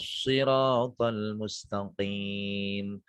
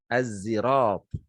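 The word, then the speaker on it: الصراط: Jumhur ulama membacanya dengan memakai huruf sa. Ihdinas siratal mustaqim. Ada pula yang membacanya dengan huruf za, az-zirat. Jadi kalau jumhurul ulama membacanya ihdinas siratal mustaqim. Tetapi ada pula yang membaca dengan huruf zai, az-zirat.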